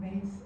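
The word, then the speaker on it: Myss: Mace. I keep pronouncing that wrong. Mace, and she has a book called Sacred Contracts.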